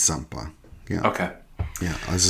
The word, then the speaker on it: Zampa: Do we pronounce it as a Z or an S in Italian? I believe it's Zampa.